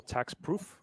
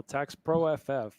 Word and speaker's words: taxproff: Some people mispronounce it, go tax proof, and we're like, no, tax pro FF, like for fast and furious.